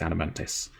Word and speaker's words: Adamantoise: Although the game does insist it's Adamantis. But I don't like Adamantis. I prefer pronouncing the O. I respect the O in Adamantoise.